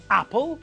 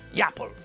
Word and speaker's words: apple: Apple and orange are nouns which begin with vowels. We pronounce them normally. It's apple, not yapple.